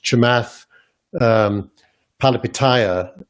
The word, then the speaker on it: Chamath Palihapitiya: The other approach, which Chamath Palihapitiya is doing. Good job with the pronunciation.